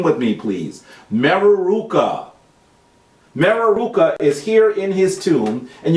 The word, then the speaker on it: Mereruka: This man's name was Mereruka. Say his name with me, please. Mereruka.